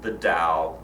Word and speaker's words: Tao: over each chapter the first one is the Dow itself and again it's spelled ta o oftentimes sometimes you'll see a